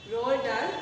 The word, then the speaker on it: Roald Dahl: Roald Dahl, pronunciation is like that, okay?